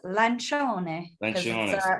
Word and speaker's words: Lancione: you pronounce it is lancia was that close yeah well yeah because i feel like the ci everyone says like ceo but it's like in italian it's ci is like a just